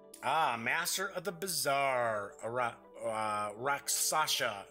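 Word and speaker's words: Rakshasa: Raksasha, or it's a Raksasa, I believe it's pronounced. Those were always pretty cool monsters.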